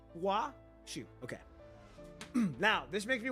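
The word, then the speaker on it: Huaxu: I always pronounce Huashu's name as Hakushu, emphasizing the X. Okay. Huashu. Huashu. That's what it was. Huashu. Okay. Huashu. So Hakushu is basically pronounced Huashu. So H-U-A.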